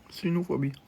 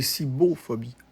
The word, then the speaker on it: cibophobie: Cynophobie. C'est cibophobie, pas cynophobie. Ça s'écrit avec un C. C-I-B-O-P-H-O-B-I-E.